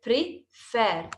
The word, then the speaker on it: prefer: the second example prefer prefer is a two syllable word pre Fair two syllables two sounds okay but here we